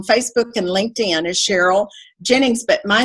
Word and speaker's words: Ginnings: and LinkedIn is Cheryl Jennings but my name and it's spelled CH ER yl g like an old cotton gin GI n ni ng s and then if they'll